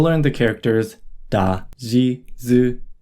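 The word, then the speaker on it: づ: Tsu with the dakden is pronounced zu. Note that tsu with the dakden is pronounced the same as su with the dakden, zu.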